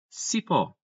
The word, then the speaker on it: cipó: Cipó. Cipó, pessoal, vai ser o quê? Uma oxítona, porque a tonicidade está na última sílaba, terminou em O, logo acento, cipó, ok?